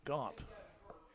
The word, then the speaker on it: Gant: It's Gaunt. Every time I say it, I mispronounce it, but it's Gaunt.